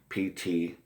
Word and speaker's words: Ptah: And then in Egyptian, it was Ta, or with spelled with a P. The P is silent, Ptah.